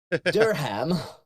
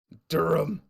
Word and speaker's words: Durham: things like that, and they're never pronounced with the H. And occasionally you'll hear someone from somewhere else use the H, and it's so weird. Durham. Durham.